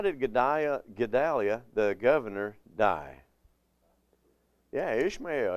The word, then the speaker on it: Gedaliah: It says, when Gedaliah was, Gedaliah, that's how it should say, Gedaliah was governor, he exhorted the Jews not to fear the Chaldeans.